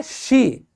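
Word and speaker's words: she: ध्यान से देखिएगा दोस्तों, ये सी नहीं होता, कई लोग इसको ऐसे बोलते हैं सी, ये गलत है। सी नहीं होता, ये होता है शी, ध्यान रखिएगा।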